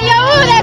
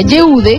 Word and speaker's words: Yehude: Su nombre no se pronuncia Yude como muchos creíamos, sino Yude.